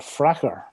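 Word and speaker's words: Farquhar: farca spelt f-e-r-q-u-h-e-r but locally that would be called fracker uh so it's changed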